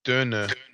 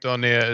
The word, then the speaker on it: döner: yeah, doner is like it's like I feel like that's like döner is how you're supposed to say doner. It's like döner Yeah. kebab, and I Did think you ever, doner is like a cultural like sort of mispronunciation, like transition of that.